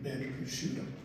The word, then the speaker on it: Bencriscutto: Frank Ben Kushido.